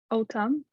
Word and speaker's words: autumn: The N at the end. Excellent. So how do you pronounce it? Autumn.